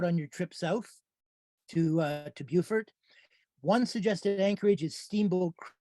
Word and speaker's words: Beaufort: Now it's pronounced Beaufort, not Beaufort.